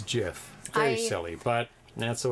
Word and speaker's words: GIF: what is it like like Jiffy peanut butter yes yes and so